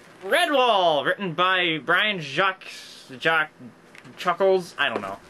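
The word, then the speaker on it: Jacques: books the illustrious red wall written by Brian Jack Jack Chuckles I don't know I can't pronounce French names Jac Jac thank you Jac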